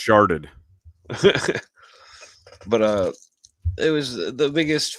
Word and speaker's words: Chartres: I think it's pronounced sharded.